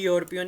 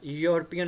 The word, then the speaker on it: यूरोपियन: रहा है a university इस तरह ही एन यूरोपियन कुछ लोग इसको यूरोपियन भी बोलते हैं तो यह भी य से शुरू हो रहा है ई यूरोपियन नहीं होता यूरोपियन होता है ठीक है यो तो